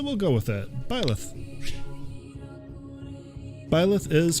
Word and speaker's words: Byleth: I think I'm going to pronounce it Byleth.